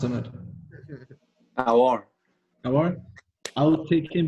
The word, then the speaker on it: Aouar: how's it pronounced, Ahmed? Aouar.